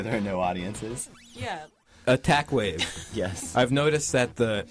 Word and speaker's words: Attack.wav: Attack.wave, it's spelled W-A-V, right. Like a wave file.